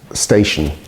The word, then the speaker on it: station: that it's eston but the word in English looks like stattion or something like that but it's pronounced station now you only know that t i o n is pronounced shun if you know um